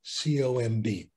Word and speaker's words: comb: If it comes after M and it's at the end of the word, then it's not pronounced.